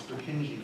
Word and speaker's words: Purkinje: I'm sure that's how we say it in the United States, Purkinje fibers. Purkinje was a Czech anatomist, and I'm sure in the Czech Republic this is pronounced differently, but we call it Purkinje.